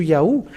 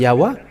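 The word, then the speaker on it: Yahweh: where are they gone but they change it to yaho so those who are those who call yaho where is that a because it should be yahwa and if you put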